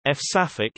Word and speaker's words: Françafrique: Francafrique, French pronunciation, F-Safik, is France's relationship with its former African colonies.